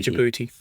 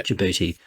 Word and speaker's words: Djibouti: Just pronounced Djibouti. Yeah. Djibouti.